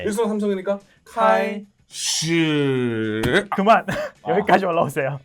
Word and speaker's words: 开始: 이게 만약 단어를 그대로 음절만 발음하세요라고 한다면 开始 이렇게 하는 건 맞아요. 그러니까 단어를 했을 때. 근데 문장에다가 넣게 되잖아요. 문장에 넣었을 때는요. 앞뒤 이음새가 매끄럽고 자연스러워야 되잖아요. 그치. 그래서 이럴 때는 开始 이 정도만 오면 돼요.